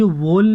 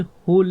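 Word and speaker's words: whole: ही आवाज़ निकलती है, यानी कि डब्ल्यू हमारा साइलेंट हो जाता है, तो ये होल है। ये वोल नहीं है, कभी आप इसे वोल बोलो, ये होल है, जिसका अर्थ होता है पूरा।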